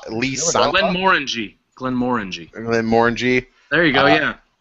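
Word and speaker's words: Glenmorangie: uh Glenn how you say it Glenn Morin Glen Moran Glen Mori morang Le Glen Mori Glen Mori Glen Mori there you go yeah F Jimmy to keep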